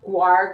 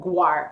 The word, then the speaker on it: guar: It's pronounced guar gum. Okay, so not gar, but guar.